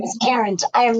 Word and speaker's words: Karent: My name is spelled a little differently, so it's Karen with a T. I'm not the regular Karen. My name is Karent.